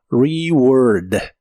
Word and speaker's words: reward: de inglés es reward la e se pronuncia como una I corta y la a se pronuncia como o reward reward en el presente